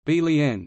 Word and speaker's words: Berlin: Berlin, German pronunciation, Berlin, is the capital and largest city of Germany by both area and population.